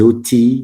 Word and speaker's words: outils: a dit à exemple des outils et ils n'ont pas des utiles. Le L ne se prononce pas à la fin.